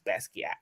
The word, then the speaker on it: Basquiat: it up even it says that the correct pronunciation is Basquiat which is why I was like let me